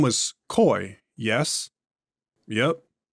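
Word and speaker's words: Coix: Cox. What is your next query? Pronounced Coy. Like Coy. Well, what is wrong with my pronunciation, Dr. Cox? Please, tell me the issue. It's just incorrect.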